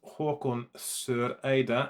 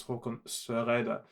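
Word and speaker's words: Håkon Søreide: And yeah, if you're watching this, Erin, my name is pronounced Hakon Soreide in plain neutral Norwegian. In my dialect, of course, because I live on the in Bergen I used to live on the Bergen on the west coast. We have inherited the German or French R sound, which means that in my dialect it's Hakon Soreide.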